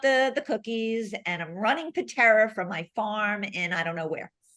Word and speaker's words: Peterra: It will, because it's spelled pet. The whole idea is Peterra, Peterra, and it's pet and terra kind of combined for pet and earth, because again, our 2